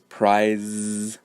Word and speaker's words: prize: So even though prize ends with an E, a vowel, the final sound in that word is prize, is Z. So therefore, when we add S to make it plural, we need to pronounce with the IZ ending sound.